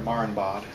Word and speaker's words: Marienbad: How do you pronounce the name of that movie? Last Year at Marienbad. Last Year at Marienbad?